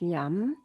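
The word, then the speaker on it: yam: the heart chakra is it's spelled y-a-m it's pronounced yum and i thought we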